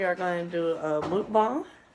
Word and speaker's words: mukbang: Today we are going to do a mukbang. How do you say it? Mukbang.